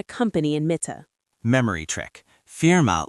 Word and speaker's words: Firma: Firma looks almost identical to the English word firm, as in a law firm or accounting firm. Same meaning, just pronounce it the German way.